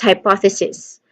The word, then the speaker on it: hypothesis: The second syllable carries the primary stress. The O is a short O sound. And, you know, you say the syllable with more emphasis because it is the stressed syllable. Pow. And then we followed it with a schwa sound, and finally still cis, just like analysis.